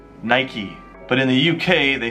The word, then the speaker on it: Nike: brands Nikola Nicor actually in America we pronounce it Nike Nike but in the UK they say Naik Naik but since it's